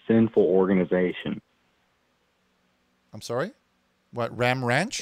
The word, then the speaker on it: Ram Ranch: Okay, so you said he works at a place called Glam Ranch? No, he works at a place called Ram Ranch. Okay, spell it for me. G-L-A-M? No, it's R-A-M. It's Ram Ranch, not Glam Ranch.